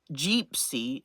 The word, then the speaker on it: Jeepsy: The Traveling Gypsy, Jeepsy is how you say her name, because she travels in a Jeep.